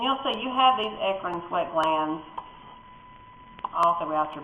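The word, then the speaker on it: eccrine: and one here and these are ecran or Ean I say Ean so I can spell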